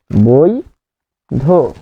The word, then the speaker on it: বৈধ: এর পূর্বে ঐকার থাকলে যেমন বৈধ বৈ ধ এটিকে ভাঙলে হবে ধসন্ত যোগ অ তাহলে বৈধ হয়ে যাবে বৈধ বই ধো বই ধো এখন প্রশ্ন হচ্ছে যে